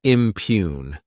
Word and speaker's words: impugn: Next is the verb impugn. To impugn, this word has 2 syllables, and the stress is on that second syllable.